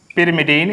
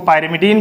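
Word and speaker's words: pyrimidine: First है प्यूरीन, second है पिरिमिडीन, इसको पायरिमिडीन भी आप प्रोनाउंस कर सकते हैं, एंड पिरिमिडीन्स।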